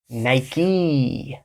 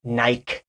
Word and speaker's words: Nike: brand in the world Nike Nike so I was shocked to hear when I first traveled to Europe people say Nike I lost so Nike is an American brand and we pronounce it Nik like a key Nike